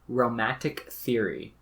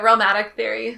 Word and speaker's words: Realmatic: Because we're going to dive in real deep to romatic theory. Pronunciation? How am I doing? Yeah, that's how I say it, romatic theory.